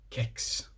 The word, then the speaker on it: kex: everywhere else they say kicks with a hard K because that's the word